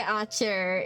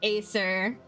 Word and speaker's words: Archer: Obviously, Yeah, everyone knows how to say Archer. It's totally not Acer.